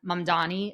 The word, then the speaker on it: Mamdani: again, international relations, Islam out there, of Zohran Mamdani. Is that how he pronounces his last name?